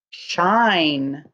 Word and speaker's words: shine: Number 17, shine, S-H-I-N-E, shine. S-H-I-N-E, shine. I'm going to stretch it out. Shine, shine, sh-I-n, shine. Don't forget that silent E, shine.